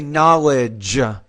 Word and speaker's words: knowledge: You want to say knowledge. J. Don't forget to pronounce that final J consonant sound.